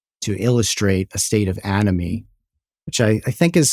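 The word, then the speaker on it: anomie: as an example to illustrate a state of animy which I I think is spelled a n o m i e but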